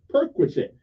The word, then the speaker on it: perquisite: e okay perquisite okay now that's how you pronounce it perquisite so what does it mean p r Qi s i t perquisite Okay it refers to something extra that someone